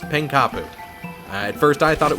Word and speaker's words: Pankapu: And yes, it's pronounced Pankapu.